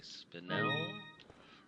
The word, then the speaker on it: spinel: There's a jewel up here, which is a spinel. That is the correct pronunciation.